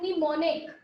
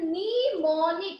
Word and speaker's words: mnemonic: This wording is known as mnemonic. This wording is known as mnemonic. Here M is silent. I am repeating, M is silent here.